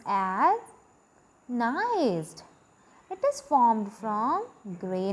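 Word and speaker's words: gneiss: have which is called nice G is silent here but the spelling is G and E I F s in the first point I have mentioned that it is pronounced as nice it is pronounced as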